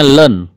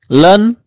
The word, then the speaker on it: ln: nah ini baca lainnya ini bukan ini bukan satu ini ll0 jadi bacanya land land nah ini bacanya harga